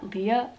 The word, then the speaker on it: Lea: girls that I have is Leah Leah it's Leah it's not like I'm Princess Leia from Star Wars no no it's Leah